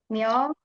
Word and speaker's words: 몇월: Nah, ini bacanya ya, Robun, bukan 몇월. Bacanya bukan 몇월, tapi seolah-olah ya, Robun melafalkannya dengan seperti ini. 몇월. 몇월. Pakai D jadinya ya.